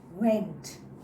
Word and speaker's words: vent: So how do you pronounce it? Vent. Okay? Your teeth out. Vent.